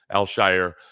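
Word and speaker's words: Al-Shaair: I'm still working on naturalizing the way you pronounce his name, Al-Shire, and his presence here.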